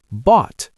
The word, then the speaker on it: bought: Bought. Bought. B O U G H T. That is a lot of silent letters. It is. Just say bought.